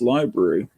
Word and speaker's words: LBRY: content tried moving to lbry pronounced library and as six regulars